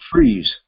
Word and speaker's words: Friis: It's Friis. Yes, very unusual. And it's pronounced Freeze.